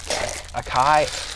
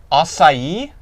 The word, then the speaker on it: acai: go pronounces it differently i've always pronounced it a kai bowl acai oh no i don't think that the c should make that noise at that in that word i disagree intensely with that pronunciation it sounds like an americanized version of the word can you agree with